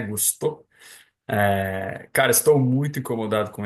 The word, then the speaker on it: Gusto: Para falar agora com a pronúncia certa, né? Gusto.